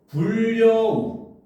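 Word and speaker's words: 불여우: 그러면 우리는 적을 때는 불 여우라고 쓰지만 읽을 때는 불 먼저 여우가 돼서 여기서 니은이 첨가가 되고 그다음 여기 있는 리은의 영향을 받아서이 리은이 리을로 발음이 돼서 불려우 요렇게 어 유마가 동시에 이렇게 같이 일어나는 경우라고 볼 수가 있는 거거든요.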